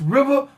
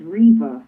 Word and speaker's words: Riva: So I'd like to welcome to the show Miss Riva. How you doing tonight, ma'am? I'm good. All right, the first thing I gotta ask, did I pronounce that properly? No, it's Riva.